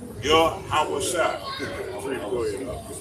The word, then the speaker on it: Yahawashi: So that's why his name is Yahweh Shai. His name means salvation. Yah, once again, meaning he. Yahweh Shai means delivers or saves. That's how you pronounce it. Yahweh Shai.